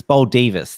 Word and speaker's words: Baldivis: I mean, this was the end result for it's Baldivis. That's how it's pronounced.